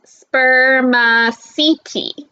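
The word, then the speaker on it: spermaceti: material in their heads it's called spear machete you say it like this sperm seeking but scientists don't really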